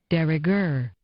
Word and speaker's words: de rigueur: De rigueur. Oh, it says a little de rigueur. Okay. Meanings and examples. The emphasis is on gur there.